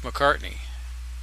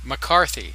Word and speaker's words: McCarthy: show would have been Joseph McCartney. Did I say it right? Did I do a Gene Wilder again? Anyway, the point I have is no idea what you're talking about. Joseph McCarthy. McCarthy, that's it.